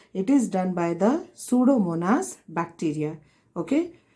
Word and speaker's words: Pseudomonas: is done by the pseudomonas p is silent it is done by the pseudomonas and what is this